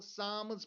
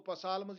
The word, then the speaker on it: Psalms: उसके बाद द सामस PSALMS, इसको सामस पढ़ते हैं, पी साइलेंट रहेगा तो इसको पसालमस या कुछ और नहीं पढ़ना, इट इज सामस given to David जिसको